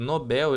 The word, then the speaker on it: Nobel: que tá o acento Nobel. Ele se pronuncia igual papel.